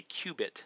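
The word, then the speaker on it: qubit: and a Quantum bit uh is called a cubit is how it's pronounced that was on the slide but I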